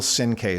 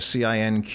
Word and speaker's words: Cinque: The name is hard to spell and hard to pronounce, but it's Cinque, Cinque.